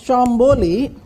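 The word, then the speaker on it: Tchambuli: In one society which she calls Chamboli, T is silent there.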